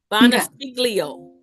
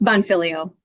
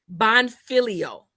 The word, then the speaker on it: Bonfiglio: Bonafilio. Did I get it right? It's Bonfilio. Bonfilio. Yep. Okay. So, the G is silent.